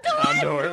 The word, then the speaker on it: Houndour: How do you pronounce it? Houndour.